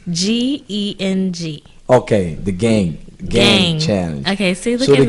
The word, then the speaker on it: Geng: So yes, let's get into the gin challenge, because I didn't know what that was. What is the gin challenge? Am I saying it right? The what? It's GENG. Okay, the gang challenge.